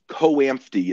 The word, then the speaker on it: COAMFTE: Um, for our specific program, a marriage and family therapy program, there is an organization called COAMFTE, is how it's pronounced, but COAMFTE.